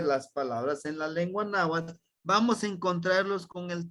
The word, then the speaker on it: Náhuatl: Y se pronuncia el TL, es el náhuatl, náhuatl, at, ¿sí? Pegamos la lengua hacia el paladar y sacamos el aire a los lados.